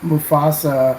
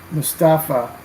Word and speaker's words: Mustafa: I was thinking that Sam Mufasa. Is that how does it say his name? Mustafa.